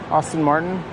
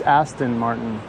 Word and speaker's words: Aston Martin: Austin Martin? It's Aston Martin.